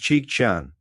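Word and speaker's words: Chicchan: The second red glaive shik pronounced cheek chan typifies the serpent or reptile.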